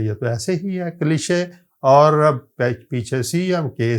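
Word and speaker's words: cliché: French words کی ہے۔ French کے تو ورڈز کے اسپیلنگ اور ان کے تلفظ جو ہیں وہ بالکل ہی مختلف ہیں عام لینگویجز سے اور خاص طور پہ انگریزی سے۔ مثلا آپ یہ ورڈ دیکھیے، یہ کلیشے ہے، کلیشے۔ اب ہمیں کوئی کلیشے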